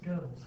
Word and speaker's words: Goebbels: really It's pronounced Goebbels, but it's G-O-E.